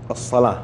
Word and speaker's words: الصلاة: لحظة، وأقيموا الصلاة، هذه الواو ما تنطق في التلاوة، هي رسمت في الرسم العثماني كذا لكن ما ننطقها.